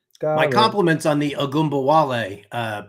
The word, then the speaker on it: Ogunbowale: Yes, I always remember how to say it because on the morning show with Simon and JL, we used to sing Dare Ogunbowale.